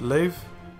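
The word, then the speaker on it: לב: and it means some lammott sir a date pronounced lave and it means heart Alif Segal parish sigil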